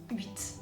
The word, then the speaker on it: huit: But generally speaking, the 8, if it's standing by itself, you say 8. Okay, you pronounce the T.